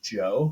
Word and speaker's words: Djo: All right, so there's a new album that came out, and the artist is called Joe, but it's spelled DJO.